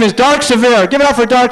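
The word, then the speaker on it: Sevier: It's pronounced Sevire.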